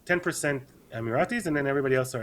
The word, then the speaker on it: Emiratis: In Abu Dhabi, it's 10% Emiratis, and then everybody else are expats.